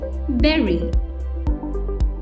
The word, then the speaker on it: bury: is pronounced as ve making it sound like the fruit bearing the correct pronunciation is Barry Joe is a large